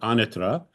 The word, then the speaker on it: Anatra: name my name is Anitra with the I'm saying it with the correct Italian pronunciation and today we have